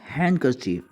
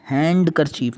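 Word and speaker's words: handkerchief: Next हमारे पास है जी हैंडकरचीफ, रुमाल। हैंडकरचीफ, हैंड करचीफ नहीं, हैंडकरचीफ।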